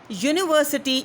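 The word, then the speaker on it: university: this words these words because यूनिवर्सिटी is basically दो इट इज़ a wall you इट is going to be started from the wall ययू but still it is giving you द इट is giving you the sound of य यूनिवर्सिटी यूनिवर्सिटी means that it is giving you the sound of य एंड य इज अ इट इज अ कंसोनेंट sound it इज अ कॉन्सोनेंट sound so यू दो इज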